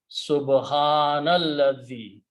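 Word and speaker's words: سبحان الذي: Now when you read them together, you do not pronounce this alif, it becomes hamzatul wasl and becomes subhanalladhi.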